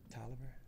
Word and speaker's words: Taliaferro: You have that name, sort of, that it gets pronounced different ways. Have you ever heard your... Tolliver? Yeah. Yes, at University of Maryland. Is that just a Maryland thing? I think so, but our name is definitely from Northern Italy, and it means steel cutter. So, yes. I would pronounce it Taliaferro as well, but I had a law clerk named that, and people used to call her Ms. Tolliver.